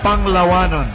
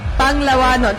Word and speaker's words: Panglawanon: Can you teach me how to say it again? Twister for you. Panglawanon. Panglawanon. Oh, I got it.